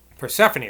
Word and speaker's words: Persephone: Persephone, that's how you pronounce that name.